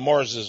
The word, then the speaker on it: Marr: There's even a town in Scotland where many of the Marrses lived. Actually, they were called M-A-R-R, the Marr. But they pronounced it, you know, the Marrs.